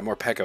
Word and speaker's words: Morpeko: Yeah, Morpeko is how you say this, but it's like hangry version Morpeko, where he's just an angry boy.